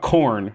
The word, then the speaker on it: Khorne: of these chaos Gods so let's talk about corn first which is spelled k-h-o-r-n-e so close man I know I